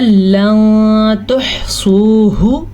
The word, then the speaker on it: لن تحصوه: ٹھیک ہے، لن تحصوه، ٹھیک ہے، سوہ سواد کو پر پڑھنا ہے اور ہا کے تلفظ کا بھی خاص خیال رکھنا ہے.